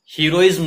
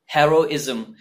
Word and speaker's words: heroism: ये है heroism, heroism नहीं, heroism.